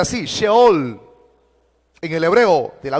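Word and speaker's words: Sheol: es la palabra en el hebreo que se pronuncia así se all en el hebreo de la biblia y esa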